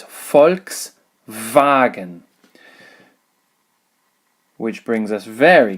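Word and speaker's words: Volkswagen: which has this symbol this is not in actual fact volks wagon it is folks wagon which brings us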